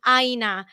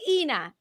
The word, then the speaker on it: Ina: to stop calling me Aina after it's in their head. You guys, it's Ina. Rhymes with Tina.